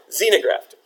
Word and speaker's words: xenograft: that right I have has anyone heard of a xenograft X e and o z no graft it's not pronounced with a click that would be pretty cool wouldn't it by clicking is